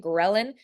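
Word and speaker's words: ghrelin: gr grin gin I I used to say it wrong so I'm like retraining my brain gin leptin and gin are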